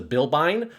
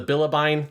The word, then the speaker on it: Bilbine: to pilot which is the bilbine or I like to call it the bilibine. There's something about I feel like in Japanese it's got that syllable and I like that syllable but it's standard remmonization is just the bilbine so I will call it that.